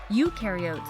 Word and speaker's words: eukaryotes: no membrane bound organelles eukaryotes on the other hand remember you rhymes with duke and other membrane-bound organelles